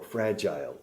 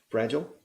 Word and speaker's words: fragile: It's fragile or fragile. Two pronunciations, fragile, fragile.